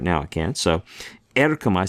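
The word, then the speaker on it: ἔρχομαι: Erkomai means I come or go. Right? Erkomai.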